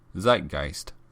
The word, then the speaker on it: Zeitgeist: But if you want to actually go to that bar, it's Zeitgeist. Zeitgeist.